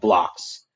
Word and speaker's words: Blox: States in Birmingham, Alabama, called Blocks. It's a company called, they formulated out of an architectural studio. It's spelled BLOX.